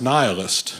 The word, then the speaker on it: nihilist: But I also had a friend who said, Shane, actually, it's pronounced nihilist.